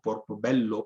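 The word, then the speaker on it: Portobelo: colonias, Cartagena, Colombia, y Portobello, Portobello, como lo pronunciarían probablemente hoy en la zona de Panamá.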